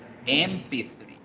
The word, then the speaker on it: MP3: Yo escribo la palabra con M, pero resulta que yo la pronuncio con E, MP3.